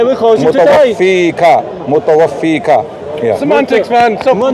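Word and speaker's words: مُتَوَفِّيكَ: Ya Isa, inni, mutawafika, right? That's incorrect. Right. Mutawaffiq, yeah. Your pronunciation is incorrect.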